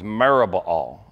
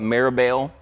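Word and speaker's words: Merib-baal: His name when he was born was Merubbaal. Merubbaal. Now, if you see his name, you might call it Meribaal. That is kind of the maybe normal pronunciation, and maybe you'd recognize part of that.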